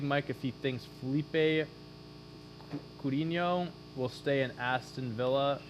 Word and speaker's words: Coutinho: you ask big mike if he thinks felipe coutinho will stay in aston villa after his loan